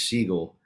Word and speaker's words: Siegel: real last name is siegel um it's pronounced like the bird and it's just like